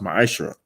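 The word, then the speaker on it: מעשר: Malachi 3 8 through1 means 10th in Hebrew and it's pronounced my isra 10% of every penny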